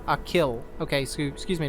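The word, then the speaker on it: Achill: five counties in the province of canacht it's pronounced a kill okay so excuse me not a keel even though bridge had a long e this is a short though a kill all right there you go so you guys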